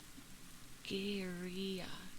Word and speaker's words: guerrilla: In Spanish, it's pronounced Guerrilla.